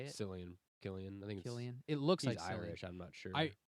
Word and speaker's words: Cillian: And is that guy's name Cillian Cillian Murphy. Murphy? Yeah. Is that how you say it? Killian.